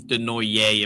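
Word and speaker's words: Desnoyers: Zade Wisdom again with Elliot Denoer and Helgate Grains. I'm hoping I pronounced that right, but it's okay. Um, I'm actually very surprised with Zade. It's Denoier apparently.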